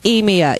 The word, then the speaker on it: Emia: if it's not any the showz name is emia e m i a my name my my birth name is spelled a i m e e okay cool